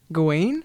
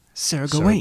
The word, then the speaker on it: Gawain: Gawain? Gawain? I mean, that's Google. Sir Gawain. Sir Gawain. But that's just the American pronunciation. What's the British one? Did they have ye old English? Gawain. Gawain. Sir Gawain.